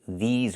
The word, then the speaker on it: these: We have to use the long e like green beans. I cannot use the short i like this is. I need the long e like green beans. These plus the zz sound like in zebra and zipper.